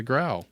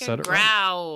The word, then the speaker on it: Graue: It's Graue. Yay, Graue.